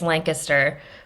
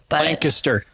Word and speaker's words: Lancaster: I mean oh well if you're from the area it's Lancaster Lancaster Lancaster sorry yeah it's you really have to like close your jaw and just don't pronounce all of the consonants that's that's uh that's